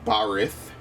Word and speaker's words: Barid: It's Barith, but it's spelled Barid.